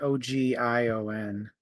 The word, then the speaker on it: Ogion: It was I forget how you pronounce it. It's Ogion.